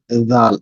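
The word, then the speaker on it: دال: এই জায়গায় লাগায় যদি উচ্চারণ করেন তাহলে উচ্চারণ হবে দাল।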